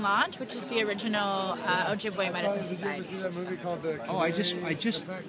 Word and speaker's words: Ojibwe: But I'm a member of the Medewan Lodge, which is the original Ojibwe Medicine Society. Oh, I just learned how to pronounce that. It's Ojibwe. Ojibwe or Ojibwa, it's the same thing.